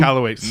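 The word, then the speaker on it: Michalowicz: And then all the stuff by Michael how do you pronounce his last name? McCallowitz.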